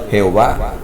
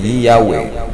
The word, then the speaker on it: Yahweh: Yahweh, el tetragramatón hebreo es Yud-Het-Wad-Hei, traducialmente pronunciado Jehová. Pero Jehová es una ruina total. Ahora se sabe que se vocaliza correctamente Yahweh, y nuevas pruebas de